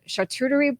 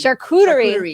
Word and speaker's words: charcuterie: going to i don't even know how to pronounce this chartreutery boards how do you say charcuterie charcuterie thank you i better learn that before she